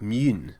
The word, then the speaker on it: Mun: now of course the rocket is spelled with the U in uh Kerbal Space Program but actually in many versions it's given an o lot on top which makes it more like mun so uh if you